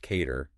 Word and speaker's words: k8r: a deeper meaning absolutely k8r pronounced cater instantly makes you think